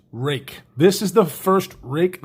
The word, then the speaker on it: Ruike: taking a look at the rake keep on wanting to call it rike p801-sf super cool little